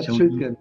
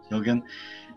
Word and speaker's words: Schildgen: Have I pronounced that correctly, Raphael? Yeah, Schildgen, yeah. Schildgen. And Raphael is a coach